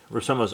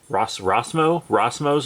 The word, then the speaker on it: Rossmo: I like Rossomo's art. Rossmo's art. I think I'm adding extra syllables in there.